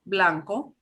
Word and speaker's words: blanco: so b and uh b that starts off a word or b and a consonant combination so that's usually b l b r it'll be a tiny bit stronger but it's still softer than english so we got blanco